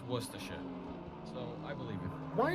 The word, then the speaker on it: Worcestershire: You know, it's not Worcestershire sauce, it's Worcestershire.